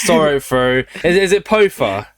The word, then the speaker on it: Poafa: I remember I was talking to somebody and they called you Poafa. I was like, oh, is that how you pronounce it?